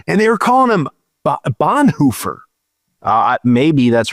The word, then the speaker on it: Bonhoeffer: I just started reading is it pronounced Bonhoeffer? Bonhoeffer.